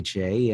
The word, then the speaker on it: Jai: other things so two last things here today jay and number one i know this one's gonna